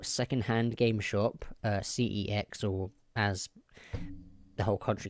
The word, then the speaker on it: CeX: to my local second hand game shop uh cex or as the whole country calls it sex but it's not sex because it's c-e-x not s-e-x it's not sex so i say c-e-x because it's bit weird saying sex no because